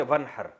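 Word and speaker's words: وانحر: में था न हर पढ़ा जाता है मिलाकर वन हर अलिफ साइलेंट हो जाता है वन हर फसली आप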